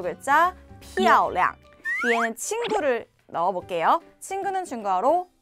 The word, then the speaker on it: 漂亮: 자, 우선 발음부터 보시면, 피아오량, 피아오량.